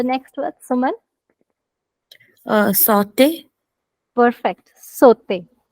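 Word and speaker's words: sauté: word Suman saute perfect sote the sound of au we learned is o and if a word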